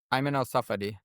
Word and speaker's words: Ayman al-Safadi: Can you pronounce it for us, the the foreign minister of Jordan? Ayman al-Safadi.